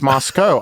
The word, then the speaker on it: Moscow: No, and that's cow. Whereas Moscow, ironically, not pronounced cow.